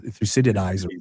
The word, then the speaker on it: Thucydides: Is that how you pronounce it? Thucydides. Yeah.